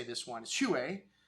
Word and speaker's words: Huet: this wine is Huet, because usually you wouldn't pronounce a T at the end of the French language. There's only 4 consonants so you pronounce at the end of a French word. C, R, F, and L. And T ain't one of them, but there's a little accent over the E, so it's Huet.